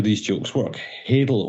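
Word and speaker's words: hadal: how these jokes work hadel only rhymes with ladle and so you could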